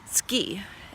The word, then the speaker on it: Tsuki: Oh, by the way, my dog is named Tsuki, or rather, how you properly pronounce his name. It's Tsuki, and it's Japanese meaning moon.